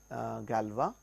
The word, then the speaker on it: Galois: This is named after a French scientist Galois, hence the pronunciation Galois.